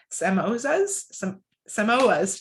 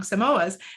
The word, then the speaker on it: Samoas: Pilyoung's fun fact is that she enjoys scuba diving, and her favorite flavor of Girl Scout cookies is Samoas. Geez, I said it wrong, Samoas.